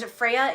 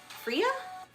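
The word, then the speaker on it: Freyja: I don't know how to pronounce Freya? Freya? No, it's yeah, because Scandinavians and the Dutch languages like to pronounce J's as Y's.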